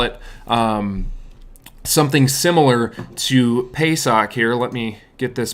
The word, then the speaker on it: Pesach: what they would what they would refer to this as is is Pesach is is what they would what they would pronounce that as and that basically comes